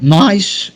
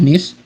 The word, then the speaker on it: Nice: في عندك للاسف نحن جنوب فرنسا، نيس. عندك او نايس يقولونها الامريكان، هي النطق الصح نيس تاريخيا.